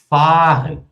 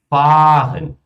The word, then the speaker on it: fahren: Ou se ela for longa, pessoal, por exemplo, mãozinha. O nosso verbo dirigir, né? O viajar, fahren, fahren, fahren.